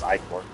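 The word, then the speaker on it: Ichor: Like I said, I call it Ikar for a long time, but the proper pronunciation as of the mythological origins is Icor where it comes from and everything. But yeah, I mean I pronounce it as icer because like how I look at it in the English language look like hive mind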